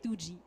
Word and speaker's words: TWOGIE: And we shortened that statement to TTGY, which when pronounced very quickly sounded like 2G.